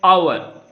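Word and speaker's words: hour: उसी तरह एन आवर, हावर नहीं पढ़ना है हमें क्या पढ़ना है? एन आवर, आवर वो का साउंड आना चाहिए। एच जो है यहाँ पर साइलेंट लेटर है।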